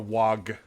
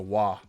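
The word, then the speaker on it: Waaagh: liar that's true and remember the g is silent it's not a wag it's a wah it's basically how orcs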